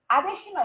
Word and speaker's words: Adesina: Adesina is also spelled the same way as Adeshina. Adeshina means that is a crown that has missed his road or missed his way. You sure did. It's the same spelling but different pronunciation.